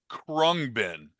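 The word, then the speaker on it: Khruangbin: And I you've I think you've uh you've heard me talk about this band before, but their the pronunciation of this band is Kungbin.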